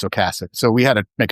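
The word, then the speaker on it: Ocasek: or second press release, he phonetically spells it out as oasick. But I don't know. I think it's Okassic.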